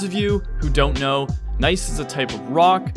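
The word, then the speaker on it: gneiss: you who don't know nice is a type of rock that yields some pretty good climbing and yes the g is silent we managed to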